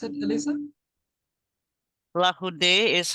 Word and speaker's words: Larroudé: Larroudé, this is how you pronounce it, Elisa? Larroudé is how I've been taught to pronounce it, but Okay.